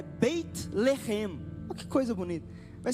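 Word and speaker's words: בית לחם: Belém, a pronúncia hebraica é Beit Lehem.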